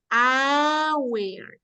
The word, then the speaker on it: hour: We pronounce the H. But we don't say Howard. We say hour.